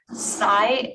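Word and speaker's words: CSCI: agreements with truitt consulting psy designs um that's spelled c s c i designs like science and the university of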